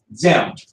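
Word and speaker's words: Diệm: I know it's a D, but the French butchered their language, it's pronounced easy. Xem.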